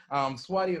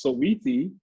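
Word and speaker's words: Saweetie: Swati or Cardi B? Ooh. You know who Swati is. First of all, it's pronounced Sweetie.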